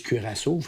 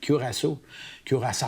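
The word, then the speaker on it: Curaçao: tuas plongé je pense Les gens disent curasso mais il faut dire casso curasso en fait qu' faut prononcer c'est néerlandais là.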